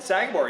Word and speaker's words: Sagamore: over here at Sagamore is that how you pronounce it Sagamore yeah I got it right we are at Sagamore